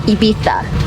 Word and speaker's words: Ibiza: Spain, and she also told me that it's pronounced Ibiza.